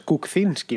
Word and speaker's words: Kuczynski: kuczynski ese es la así es como se pronuncia el nombre de nuevas bromas kuczynski no cocines que lleva un ace por adelante el problema es que